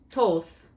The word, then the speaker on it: Thoth: teacher awakening divine magic thoth pronounced toth also known as tahuti